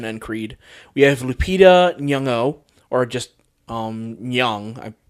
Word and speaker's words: Nyong'o: We have Lupita Nyong'o, or just Nyong. How you pronounce her name? It's Probably got it right difficult. the second time. Yeah, Nyong'o, I believe.